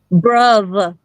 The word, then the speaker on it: bruv: Bruv with a They actually V. say bruv. They do pronounce the V.